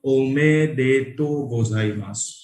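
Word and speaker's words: おめでとうございます: सो you just congratulate someone with the word of omedeto gozaimasu. Omedeto gozaimasu. Omedeto gozaimasu. Omedeto gozaimasu. Omedeto gozaimasu. Again, you is silent, so omedeto gozaimasu.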